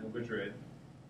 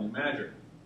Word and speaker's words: New Madrid: call it new MRI not New Madrid locals like you know they actually know how to say pronounce anything so it's called new mager and there's a fault